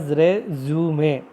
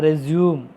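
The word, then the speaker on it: résumé: Resume, pronounced as resume, not resume.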